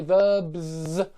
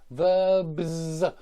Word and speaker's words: verbs: Yeah, notice I say verbs, verbs. B is voiced, so I need to give it a Z and not a S.